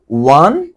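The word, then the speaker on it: won: এটাকে আমরা অনেক সময় ভুল করে ওন ওন বলি, উইন, ওন, ওন। মনে রাখতে হবে যে এটা হচ্ছে ওই যে একের ইংরেজিটার উচ্চারণ যেমন ওয়েন, ওয়ান, এটার উচ্চারণও সেম।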